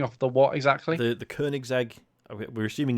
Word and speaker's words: Koenigsegg: But I can't pronounce this car, Sean, but you're finishing off the what exactly? The Koenigsegg.